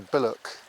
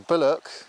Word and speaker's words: billhook: which is the the bck and you don't pronounce the h the bck revolutions were W with